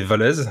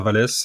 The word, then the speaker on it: Wallaise: Voilà, la prononciation officielle dans la famille c'est Valaise, mais selon la région de France où dans le nord ça sera Walais, dans le sud ça sera Valès, donc je suis habitué à peu près à toutes les prononciations, il n'y a pas de souci.